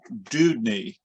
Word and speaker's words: Deudney: problem okay so so my name is pronounced dudeny uh sn hey dude uh and knee sn leg joint dude knee good great hello there